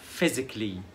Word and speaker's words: physically: physically يعني جسديا physically. يبقى C-A-L-L-Y هنطقها كلي، physically basically scientifically radically.